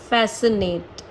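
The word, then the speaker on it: fascinate: स पढ़ा जाता है तो एस के संग अगर सी आता है तो वह साइलेंट ही रहता है और अगर के से पहले आता है या यू से पहले आता है तो भी सी जो है वह साइलेंट रहता है अगेन एक्सेप्शन सब में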